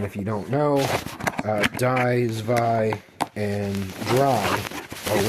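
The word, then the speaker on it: zwei: Uh and then if you don't know uh dvi and dry are 1 2 3 in German. So that's where they threw dino or dino zus which the w is pronounced as a v in German pronunciation and then hydragon.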